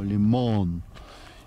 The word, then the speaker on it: Лимон: смотровая площадка мотание лимон ударение на последнее о лимон Вот вот как раз